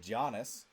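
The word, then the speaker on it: Giannis: it's land Landon Fletcher I thought Janis jannis it's Janis it's a soft G sorry um but no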